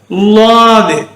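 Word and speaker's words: ض: அடுத்த எழுத்து லாது, லாது. இந்த லாது சொல்லும்போது நாக்க சோத்துக்கை பக்கம் வச்சு லாது, லாது என்று உச்சரிக்க வேண்டும்.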